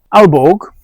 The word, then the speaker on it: Aalborg: Alborg or Albor as I think it's more correctly pronounced in Danish is a brand that belong to Danish distillers.